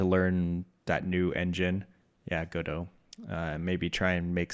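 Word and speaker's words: Godot: I picked up Godo. I don't know if you're familiar with that. Go dot is how it looks like it's spelled, but Godo.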